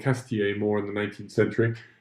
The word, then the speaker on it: Cazetiers: Incidentally, I will just say I've been saying Cazetiers as if it's almost just 2 syllables rather than 3, rather than Cazetiers. You certainly don't want to stress the E.